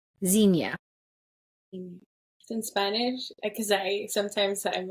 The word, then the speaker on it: Xenia: So it would be like Xenia. And the only reason why it's easier for me in Spanish is because it's you just like exactly how it's spelled.